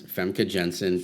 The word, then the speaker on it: Famke Janssen: The way I've usually heard it pronounced is Famke Janssen, but I'm just from my knowledge of that part of the world. Yeah. Usually, it's a soft J.